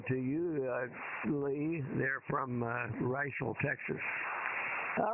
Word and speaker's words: Riesel: KD5Q here in Central Texas, and it is pronounced Riesel. A lot of people say Riesel, but it's Riesel.